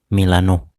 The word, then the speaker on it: Milan: Sebagai penghormatan, nama klub ini memakai pengucapan Inggris, bukan pengucapan Italia, yakni Milano.